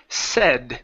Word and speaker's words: said: we have the word said this is a short e instead of dad side with a long a sound it's a say said